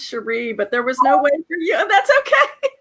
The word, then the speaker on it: Sherré: Mayo hi hello there my name is pronounced Sheree but there was no